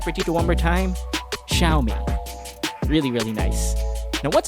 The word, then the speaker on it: Xiaomi: of this brand, and usually Chinese pronouncers use that with an SH sound and with a bit of a Y after that.